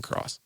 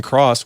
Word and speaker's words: Kross: again ladies and gentlemen this is dr ethan cross dr ethan cross welcome to crazy money thanks for having me